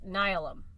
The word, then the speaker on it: Nihilum: The next confrontation between Sargeras and the Pantheon was Nihilum, which I finally figured out how to pronounce that because it's like the word, like, nihilism or like annihilation.